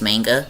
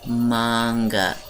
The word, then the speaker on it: manga: manga anime and if you think that it's pronounced manga please go hit yourself with a shoe it is manga the japanese don't say a anyway so i